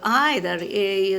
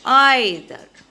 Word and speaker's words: either: There is another pronunciation also possible for either. Some people. Sometimes it can be even said as either. Okay, either. That's the British pronunciation.